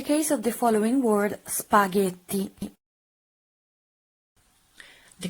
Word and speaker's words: spaghetti: of the following word spaghetti the correct pronunciation is spaghetti spaghetti and remember to use the tt-this spaghetti not spaghetti there's no D very strong tea also when you pronounce